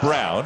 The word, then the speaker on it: Braun: Again, looks like Braun, spelled like Braun, but sounds like Brown.